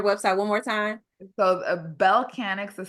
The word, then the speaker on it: Bellechanics: So Bellcanix is spelled B as in boy, ELLE. So it's the word Bell. And then Canix, right? Instead of mechanic with a me, it's a Bellcanix.